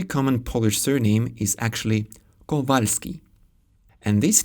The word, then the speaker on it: Kowalski: This very common Polish surname is actually Kowalski, and this name is Paweł.